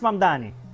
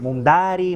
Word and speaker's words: Mamdani: Fíjense, nadie sabe pronunciar mi apellido. Es Mamdani, pero a cada rato me dicen Mundari, Mumnari.